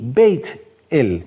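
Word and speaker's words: בית־אל: Entonces, Bet-El, casa de Elohim. También se puede decir Beit, con I, Beit-El, ¿ya?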